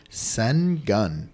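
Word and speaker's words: Şengün: and I'm going to pronounce this phonetically so that they can Google it s gun yeah s the penguin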